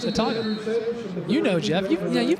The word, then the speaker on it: Autauga: it again my apologies I said a tog ma I I will I will be honest with you I have struggled with how to pronounce it but it's it's simpler than it seems it's just a talk you know Jeff yeah